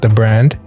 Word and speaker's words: dbrand: like we've learned later learned that it's not pronounced deep brand it's called the brand the brand is that right oh yeah interesting